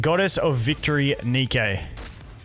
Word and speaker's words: Nikke: game never seen it before it's called Uh Nika it's called the way they phrase it I've always said it wrong it's called goddess of Victory Nikkei it's um it's a physics game and besides